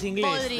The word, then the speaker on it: porridge: Es inglés, Podridge, de los cuáqueros, realidad, sí, porridge. Exactamente, podridge. Ahí va. Entonces, se pronuncia así, chicos.